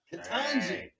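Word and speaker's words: Ketanji: Justice Jackson, Katanji.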